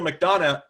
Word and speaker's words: McDonough: kennedy and neil mcdonough neil mcdonough i want to say hugh and neil mcdonough the g is silent real cheese move in